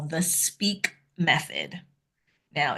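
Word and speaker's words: SPEAAK: that I call the speak method. Now, it's spelled S P E A A K. And yes, I can spell. But that's what this that's the speak method.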